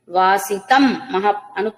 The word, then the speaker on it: వాసితం: వాసనాద్వాసుదేవస్య వాసితం అనుస్వరం మకారమే ఉంటుంది.